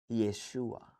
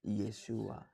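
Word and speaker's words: Yeshua: Ya, hari ini orang-orang Ibrani mesianik menyebutnya Yesua. Kalau saya baca doa, saya selalu membacanya Yesua. Ya, gitu. Dalam bahasa Arab teks eh apa? Alkitab bahasa Arab modern disebutnya Yesua. Yesua Masih pakai ain Yesua ya.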